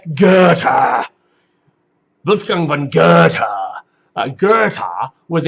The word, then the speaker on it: Goethe: The first one listed here, Holliday, that looks like Goethe. That's Goethe.